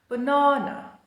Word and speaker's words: banana: It has three a's in the spelling, but two of them are schwas. banana bb banana or banana in American English.